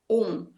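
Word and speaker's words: ॐ: No sânscrito, elas aglutinam e formam o som de O. Então, é Om.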